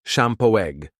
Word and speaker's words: Champoeg: Even as the world around them shifted, they called the place Shampooe, pronounced Shampoo, a name derived from the Calapouya word for the Kas flower that blanketed the valley in blue every spring.